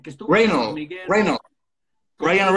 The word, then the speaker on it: Reynolds: Reynolds. Ryan Reynolds. Reynolds. No, no es Reynolds, no es.